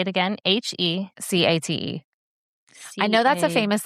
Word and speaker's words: Hecate: Hecate. Say it again. Hecate.